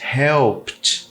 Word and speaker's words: helped: Por que eu botei esses três? Porque também já trouxe esse tipo de conteúdo aqui, que era a pronúncia do ED no final dos verbos no passado, que após uma consoante explosiva, que é o K e o P, por exemplo, o ED tem som de T. Então os três casam ali em termos de pronúncia, porque asked, helped, next, tá?